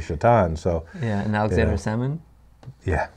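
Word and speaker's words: Šatan: he's called Satan yeah it was SATA n Satan is what it looks like but is actually shat on so yeah now examine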